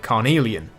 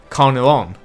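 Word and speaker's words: Carneillon: Thomas de Carnelian because I thought there was an I in the name after the L's. So in this video, I pronounced it Carnelian.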